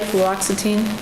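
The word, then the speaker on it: fluoxetine: like this okay now uh fluoxitine am I pronouncing that right fluoxitine yes ma'am and uh Topiramate are associated with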